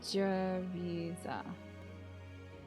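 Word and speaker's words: Jeritza: So I'm assuming you mean a J. So it's Giza. Wait, hold on. Jariza. Okay. So it is like a J sound.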